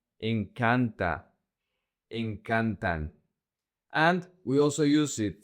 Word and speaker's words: encantan: The emphasis in the conjugation in the simple present doesn't go to the last syllable. It goes to the second to the last. So, the emphasis is going to be the syllable can.